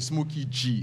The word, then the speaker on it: Smokey G: Non, c'est Smokey G. Ça s'écrit Smokey G, mais on lit ça en anglais.